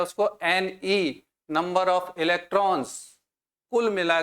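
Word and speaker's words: coulomb: इकाई अभी यहां इकाई याद करनी है हमें कलाम सी यू एल एम बी B silent और कूलम जब हम बोलेंगे इसको तो इतना आवेश एक इलेक्ट्रॉन पे है।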